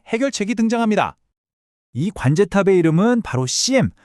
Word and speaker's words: SIEM: 여기에 바로 사이버 보안의 관제탑이라고 불리는 아주 멋진 해결책이 등장합니다.이 관제탑의 이름은 바로 CM. 우리말로는 그냥 심이라고 읽으면 파네요.